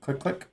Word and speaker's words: 通天閣: Yep, click click is how you pronounce this.